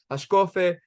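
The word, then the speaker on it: השקפה: So I'm going to pronounce things a lot of times with a more Israeli or Sephardi accent when I say things. So I'll say Hashkafa.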